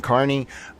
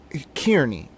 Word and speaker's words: Kearney: Apparently his name is Aiden Carney. I'm sorry. Maybe it's because part of my family's from Ireland. Kierney, bro. Like it should be Kierney.